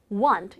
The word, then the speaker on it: want: 자, 어쨌거나 중요한 건 salad, 이 발음과 want 이런 식으로 t 발음 거의 발음 안 된다는 것까지 기억하는 게 좋은 것 같습니다.